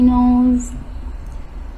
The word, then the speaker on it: knows: Nobody knows. Knows. Yes, nobody good job. So the word no, we don't pronounce the letter K, yes, yeah, at the beginning.